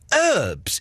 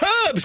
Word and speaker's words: herbs: I never get why the Americans say herbs. There's an H there. Say the H. It's herbs, goddammit.